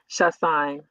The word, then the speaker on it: Chassagne: say your last name shashan sh it looks harder than it actually is it's only two syllables yeah Bo you go